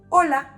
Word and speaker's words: hola: And those words starting with an H and A, they have the same pronunciation of A because H doesn't make a sound in Spanish, just like the word hola.